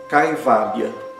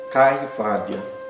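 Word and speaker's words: कैवल्य: Exemplos de palavras que utilizam ai: caivalha, caivalha. Caivalha é libertação, isolamento no sentido espiritual, independência. Também é uma tradução de caivalha. Cai. O ai é pronunciado exatamente como no português, ai.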